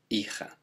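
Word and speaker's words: hija: to say sun it's remembering that the h is always silent and again o changes to a daughter is icha so to say i'm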